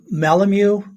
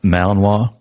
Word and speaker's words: Malinois: a dog question no please do why why malamu belgian malamu i mean how do you pronounce that malinois okay what makes a good combat dog and